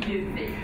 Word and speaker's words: Djupvik: Because, of course, you pronounce the D in Djupvik, which means deep beak.